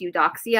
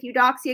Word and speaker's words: Eudoxia: Her name, I think it's pronounced Eudoxia.